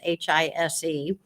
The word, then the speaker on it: Heiss: And my married name is so long that phonetically my maiden name is actually in it, because my maiden name was Heiss, Hise.